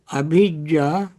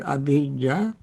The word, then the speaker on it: abhijja: Longing is a desire, abhijja Pali word abhijja. Don't confuse abhijja with avijja.